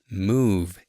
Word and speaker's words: move: Remember, move E is silent, so it kind of ends with V.